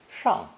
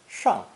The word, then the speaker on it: 上: verb to go up, pronounced fourth tone, 上, 上.